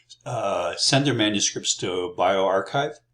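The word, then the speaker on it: bioRxiv: send their manuscripts to bioarchive and evo archive that's how you pronounce those sorts of things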